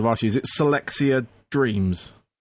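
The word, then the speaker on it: Celexa Dreams: If I pronounce this right as well, I should have asked you. Is it Selexa Dreams? Selexa Dreams.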